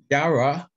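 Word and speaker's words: יראה: And so let's move on to the Hebrew definition, Strong's Concordance, Yara, fear. And it's a feminine noun, Yara is the Hebrew pronunciation.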